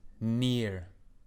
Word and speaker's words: NieR: Nier. Nier. That You game. don't need to spell it. Well, some people will probably hear near, like, oh, he's near me.